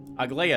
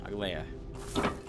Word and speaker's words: Aglaia: Aglaya? Aglaya. Gotta get the emphasis on the right syllable as well.